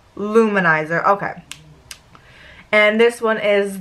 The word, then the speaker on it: Lou Manizer: The way it's spelt is L-O-U space capital M-A-N-I-Z-E-R. So that's why I was saying it separately, but I just got that. It's Luminizer.